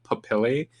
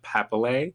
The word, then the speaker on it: papillae: This word not pronounced how you think it would be, it's pronounced papillae, not papillay .